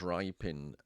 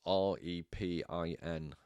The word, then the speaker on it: Repin: So I believe it's pronounced Rypin. It's Repin.